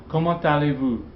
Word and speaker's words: Comment allez-vous: Remember, this T is usually silent, but it's pronounced in liaison here. That's an exception. Comment allez-vous?